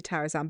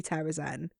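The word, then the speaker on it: Terrasen: Terrazan or Terrazen? Zan. Me too, I say Terrazan, but it's definitely Terrazen.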